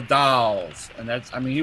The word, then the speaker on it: The Dalles: And I got everything from Dallas to Doles to Dalles to Dales. So then I met a guy that was on the town council, and he said it's called the Dalles, and that's, I mean,